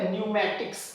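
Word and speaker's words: pneumatics: इसके अलावा यहां पर भी एन से पहले पी है तो पी साइलेंट है। तो इसको हम बोलेंगे न्यूमेटिक्स।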